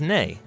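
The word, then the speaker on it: nei: hello and Icelandic is pronounced Hollow thank you is talk yes is yah no is nay goodbye is bless 14.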